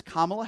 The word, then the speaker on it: Kamala: Her name is Kamala Harris. If you're going to call into this show, you're going to pronounce her name right.